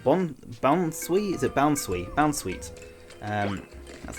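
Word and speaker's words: Bounsweet: for that um Bon boun is it boun boun sweet um that's how you say it boun sweet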